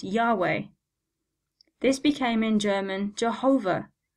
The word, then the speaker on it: Yahweh: a name for God the original Hebrew is written without any vowels so we don't know how this was pronounced at the time of writing but with the addition of vowels this is now pronounced Yahweh this became in German